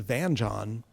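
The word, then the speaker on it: vingt-et-un: is also known as, I'm going to butcher the French pronunciation, Vingt et un, or in Britain as Vanjon, kind of a anglicization of that, which is an ancestor of blackjack, 21.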